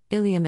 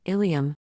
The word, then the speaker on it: ileum: For example, ileum and ilium have identical pronunciations, but the first term, ileum, means a part of the hip bone, red arrow.